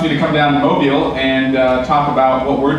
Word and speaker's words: Mobile: He even taught me how to pronounce Mobile. And he wants me to come down to Mobile and talk about what we're doing here with